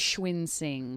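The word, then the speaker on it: Cunxin: How do you Last pronounce that? dancer. Lee Yes. Schwinsing.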